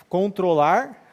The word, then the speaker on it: control: Se for um verbo, é a segunda sílaba.